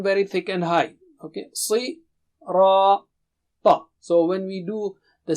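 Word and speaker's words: الصراط: And also it's not English Ra. No. Ra. With low frequency. And Ta is again very thick and high. Okay. Si. Ra. Ta.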